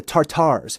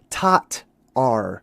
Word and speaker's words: Tatar: So, we're trying to figure out the tartars. Well, we figured out that it's not tartar. It's actually tatar or tat, I should say. That's really a little bit better of a pronunciation.